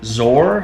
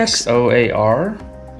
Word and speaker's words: Xoar: test we're using a zorr i think that's how you say it that's how it looks like you would say it xoar it is made of